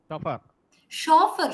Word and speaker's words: chauffeur: right yeah exactly so Chef chauffeur chaperone lot of words which begin with ch but are pronounced as sure okay so I'm just